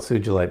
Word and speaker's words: sugilite: a look at that sugilite by the way it's funny it's called sugilite because it's named after Ken Ichi Sugi but we call it sugilite so I don't know why it's a soft G uh but that one